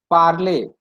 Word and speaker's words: parler: going to learn is parler. PARLER. Parler means to speak. Okay, parler, to speak. So whenever the word ends with ER, E with accent, ET, EZ, all this should be pronounced as A.